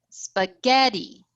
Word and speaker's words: spaghetti: What about if we have spaghetti, spaghetti? Oh, we need to bring back a third one. spaghetti, spaghetti. Which one is stressed? 2.